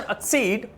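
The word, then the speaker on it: accede: अक्सीड, right pronunciation अक्सीड, right pronunciation exceed.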